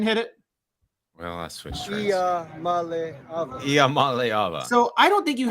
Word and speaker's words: Iamaleava: I just pronounce it like this. Iamaleava. Iamaleava. I got it. Iamaleava. And then there's a Tungavailoa guy. No. Iamaleava.